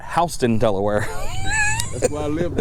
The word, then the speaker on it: Houston: And we do have a, what most people would pronounce as Houston, but we call it Houston, Delaware.